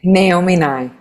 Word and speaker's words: Naomi Nye: Pronounce your Sure, name my for name us. Naomi Nye.